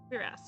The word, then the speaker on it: cuirass: Cuirass is what it sounds like.